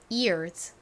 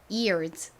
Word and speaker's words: ears: 발음은 Z 소리가 나요. 그래서 ears, ears 이렇게 발음이 됩니다.